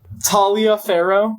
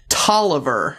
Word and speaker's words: Taliaferro: Okay, you're not going to believe this one. Tolliver. What? No, it's not. Not Challenge. No, I already challenged. Can't be right. guys, like reading this, there's no like rhymes with Tolliver? Oliver. Like Don Tolliver.